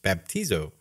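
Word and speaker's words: βαπτίζω: covered in his blood the Greek word for baptism in the Bible is pronounced baptizo this means to make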